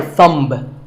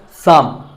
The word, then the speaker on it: thumb: It's not my thumb. It's pronounced thumb.